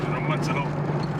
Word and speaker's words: Barceló: Barceló.